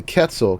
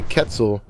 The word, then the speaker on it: Quetzal: annoyed when I say Quetzal, but that's how it's actually pronounced. The word comes from Spanish, from Quetzalcoatl, which is it's a Mesoamerican feathered serpent deity, and Spanish always has a hard Q.